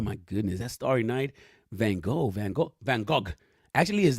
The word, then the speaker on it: Van Gogh: Like, oh my goodness, that Starry Night, Van Gogh. Actually, his name is pronounced Van Gogh, but I think that Americans like to fantasize